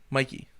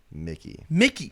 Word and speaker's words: Mickey: Did I say his name wrong? Mikey. Mickey.